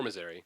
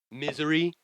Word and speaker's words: Missouri: Misery? No, it's not supposed to be like that. Miss but Our It's Eye. not Missouri. Miss Our It's Eye. not Missouri. The I is not pronounced that way.